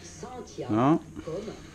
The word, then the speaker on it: Cynthia: Mais faites comme Louis, prononce Saintia.